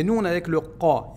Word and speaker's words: ق: Par contre, ici, le qaf, ce qui est prononcé qa, on n'a pas son équivalent en français. Alors, il ressemble un tout